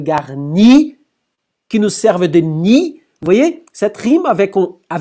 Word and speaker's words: nid: En I, elle est intéressante aussi parce que ni se termine par D, mais on ne prononce pas, et donc on peut rimer avec garni.